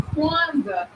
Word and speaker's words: Kwanzaa: And then the KW in Kwanzaa is pronounced kwa.